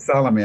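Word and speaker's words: Salomé: That's right, Salome. I got the name wrong.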